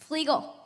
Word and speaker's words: Fluegel: How do you pronounce it? Fluegel.